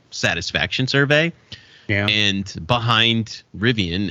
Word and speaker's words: Rivian: survey yeah and behind rivien is the number one I think that's it that's how you pronounce that car company right it is there's